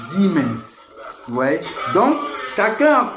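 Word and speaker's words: Siemens: Parce que même le S en allemand se prononce Z. Ouais. Se prononce Z. Zimens par exemple. Nous nous lisons siens mais les Allemands lisent zens.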